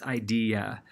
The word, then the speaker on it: idea: The ia at the end of that, it's not idina, it's not idela, it's idea. And you have an e changing to an ia sound going on there. So at the end, the E and the each get pronounced separately, not together, like the EA in bean.